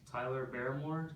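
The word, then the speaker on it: Tyler Baremore: We'd be real jerks if we spelled your name wrong or mispronounced it. So So say and spell your name, please. Tyler Barmore.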